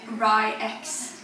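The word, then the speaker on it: RY X: We watched an interview with him and you pronounce it Rye-X.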